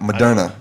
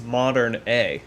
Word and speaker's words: Moderna: i keep saying that madonna why do i why am i saying it because it's phonetically it's modern a yeah so you're like moderna no darna started a 30 000